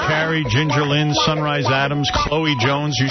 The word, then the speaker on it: Chloe: Ch LE is always pronounced Chloe, though. You should know that.